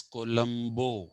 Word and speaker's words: Colombo: columbus is latin apparently in italian it is columbo c-o-l-o-m-b-o and the country that we know as colombia don't pronounce that as colombia it should be pronounced